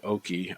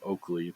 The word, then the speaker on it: Oakey: uh pretty shocking but I was able to determine that it is indeed Oaky I don't know why I had it in my head that his name was Oakley but dude and it's spelled o-a-k-e-y it's not like they're